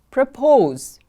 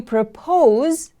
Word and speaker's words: propose: Propose. Propose is a verb. You propose when you ask someone to marry you. Propose, propose. The stress is on the second syllable.